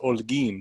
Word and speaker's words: Holguin: story but it's pronounced olguin so the H is silent gein gein see ya